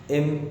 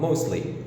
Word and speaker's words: mostly: يا ترى كلمة mostly هنطقها ازاي؟ هقولها mostly ولا mostly؟ طبعا هنطقها mostly. ليه؟ علشان مش هعرف انطق التي. ليه برضو؟ علشان الكلمة بتاعتي فيها STL، 3 حروف ساكنة، يعني اللسان بيلزق بيسكن في مكان معين في الفم، فطبعا مش هعرف انطق ال3، مش هعرف اتحرك بينهم، مفيش حرف متحرك.